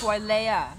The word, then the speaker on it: Wailea: That's Wailea.